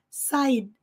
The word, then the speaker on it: side: que ressignificar o inglês reconfigurar o som da letra D no nosso cérebro side side vai ser desconfortável vai ser um pouco desconfortável no início porque já tá automático aquele Side de mas não é de é side então nós temos que